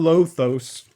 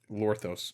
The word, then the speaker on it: Lorthos: moth warp world and lothos actually lorthos lorthos is a really bad mythic to pull it's not pronounced lothos anyway that's a song